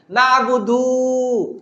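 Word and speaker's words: نَعْبُدُ: আছে না তাড়াতাড়ি বলতে হবে কারণ এটা হল নাবুদু মানে আমরা ইবাদত করি জমা মুতাকাল্লিম মানে মুতাকাল্লিম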